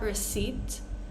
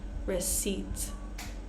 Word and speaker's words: receipt: peace core coup pneumonia psychology receipt right not receipt receipt one more time core cou pneumonia psychology receipt